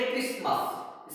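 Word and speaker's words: Christmas: Next जो है वो है इसको क्या पढ़ेंगे, इसको पढ़ेंगे क्रिसमस। इसमें भी देखो टी साइलेंट है, इसके इधर भी व्यंजन है इधर भी व्यंजन है।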